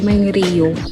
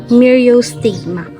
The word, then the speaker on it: Myriostigma: So, ganun pala siya pinapronounce. Kasi, sabi ko dati, may Rio. So, it's Mirio stigma.